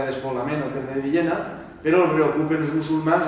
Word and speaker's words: Villena: I d'ahir pues, es queda la Medina, la ciutat de Villena, que és la pronunciació tradicional en B, valenciana, com Villeneta, que és Milleneta, que no ho descanvia. Conyato, conyato, Villena, Villena. És en B, i en la tradició